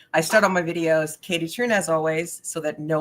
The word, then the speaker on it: Kaytee Thrun: TR just reminds uh rhymes with moon balloon but I start all my videos Katie TR as always so that